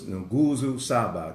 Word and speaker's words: Nguzo Saba: Okay, so it's Nguzo Saba, the Nguzo Saba. Okay, that's spelled N-G-U-Z-O.